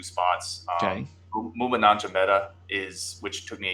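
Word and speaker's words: Maema Njongmeta: So go ahead and pronounce his name again then, because we're going to have to know this. Yep. Muma Nanjameta.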